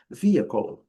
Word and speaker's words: vehicle: vendo aqui pela marcação, e a pronúncia do H silencioso, a letra E, ao final, quase 99% das vezes também silencioso, então a pronúncia vai terminar na letra L, e esse L vai ser pronunciado como eles chamam de dark L, que é o L no céu da boca, a língua no céu da boca. Vamos lá.